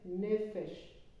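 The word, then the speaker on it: נפש: que tiene dos seges y tiene acento sobre la primera sílaba Entonces se lee nefesh no tiene un un punto No tiene un punto aquí encima aquí adentro Entonces se lee como una F y dice nefes nefes significa alma tanto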